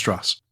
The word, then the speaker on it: Strauss: And it's pronounced Strauss.